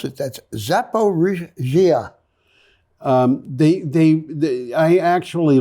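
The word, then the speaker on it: Zaporizhzhia: supposed to be pronounced zaparrisia zepa regia chzh is zhzh it doesn't mean that you have to pronounce zh twice it's kind of like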